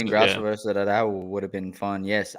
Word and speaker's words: Araujo: But the big one that I was looking forward to was the Alexa Grasso versus Arujao. I don't remember how to say her name. Araujo.